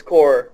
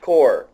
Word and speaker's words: Corps: can I that I've heard 50 different core pronunciations its core if somebody is sending corpse they're saying it wrong did I definitely core